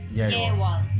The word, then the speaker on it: Yeawon: Yeawon. Yeawon, okay. Right. I'm really bad at pronouncing things in Korean, so...